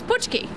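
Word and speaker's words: pączki: throughout the morning that I'm actually polish so to me it's pki that is correct and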